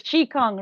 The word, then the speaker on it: Qigong: It's Qigong, right? Okay, Qigong. perfect. And fasting. Yeah, I've been having trouble pronouncing this word.